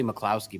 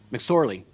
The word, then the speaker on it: McSorley: I always say McCloskey, but it's McSorley. And Cardinals didn't like what